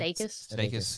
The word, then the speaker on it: Sudeikis: like Steve Carell or Jason Sudeikis. Is that how you say his name? Sudeikis.